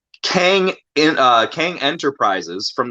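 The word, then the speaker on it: Qeng: industries or avengers tower it says kang but it's spelled q-e-n-g kang in uh kang enterprises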